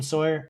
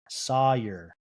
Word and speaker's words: Sawyer: I still believe in Sawyer or Sawer. Sawer, that's how his mom pronounces it and she wants people to say that.